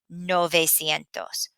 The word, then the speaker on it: novecientos: And the two that we're really having a hard time with pronouncing are 500, which is quinientos, quinientos, and 900, novecientos.